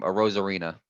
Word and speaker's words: Arozarena: Like Aside like from Randy Kiermaier Rosarina.